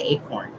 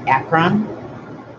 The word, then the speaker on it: Akron: I want to say acorn, but I know that's not right. Akron.